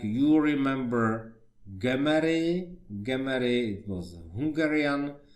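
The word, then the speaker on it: Gömöri: in United States, and so you maybe can find his name with another pronunciation like Gemery and so on, but the original is Hungarian pronunciation Gemery, and his impregnation stains reticular fibers.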